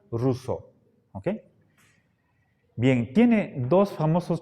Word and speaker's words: Rousseau: ro u ca u así se escribe pero se pronuncia ruso Okay bien tiene dos